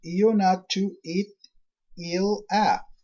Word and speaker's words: Ionatu Etila: Ionatu Etila, pronounced Ionatu It-Il-A.